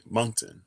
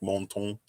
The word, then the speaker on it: Moncton: remember those little bunnies that's how you pronounce it okay moncton i didn't know if it was like french or something so it'd be like monton like montblanc or something like that i don't know french